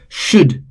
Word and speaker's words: should: again L is silent should again L is silent could again L is silent.